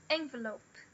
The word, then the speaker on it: envelope: E para envelope. Envelope. A primária é a primeira, n, e o lope é a secundária. Na do meio, a gente tem o schwa. E aqui a gente tem o ditongo, o O, na secundária.